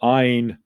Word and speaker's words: Ayn: And remember that Ayn rhymes with mine, was this Russian philosopher.